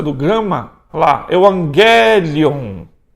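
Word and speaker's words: εὐαγγέλιον: Então gama gama, você vai pronunciar NG. Gama kappa, NK. Gama xi, o NXi. E o gama ri, com NRi. Vamos treinar a pronúncia do gama? Olha lá, Evangelion. Evangelion.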